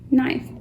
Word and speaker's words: knife: to slice the vegetables nice hmm I once again the K is silent can you see that